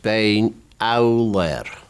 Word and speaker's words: Beinn Eallair: The proper Gaelic pronunciation is Beinn Eallair.